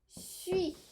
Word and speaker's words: suis: Suis. Je suis. Okay, that's a you. Okay. I am. Je suis. Suis. We do not pronounce the S at the end.